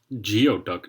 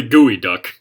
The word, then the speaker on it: geoduck: you fix the censorship why is it pronounced geoduck no that's clearly gooey duck that's that's just annoying right there that is very clearly gooey duck that's not geoduck gooey duck is look